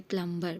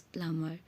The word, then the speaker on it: plumber: Usually we used to say plumber, but the sound is plumber.